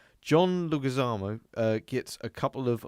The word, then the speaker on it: Leguizamo: No. Leguizamo. Just Can you Google his name?